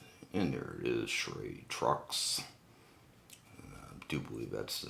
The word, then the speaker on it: Truix: And this is the Truix, I do believe is how it's pronounced.